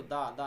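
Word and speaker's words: the: क्या पढ़ेंगे ठीक है अगर एलिफेंट है उसके पहले भी दी लग सकता है क्योंकि एलिफेंट के पहले लगता है ये वॉवेल है तो क्या करेंगे दी एलिफेंट तो वॉवेल के पहले अगर आप लगाना चाहते हैं तो उसको दी पढ़ेंगे ठीक है अगर कंसोनेंट के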